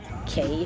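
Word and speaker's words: Cay: Key, if you want to pronounce it, but it's spelled c a y.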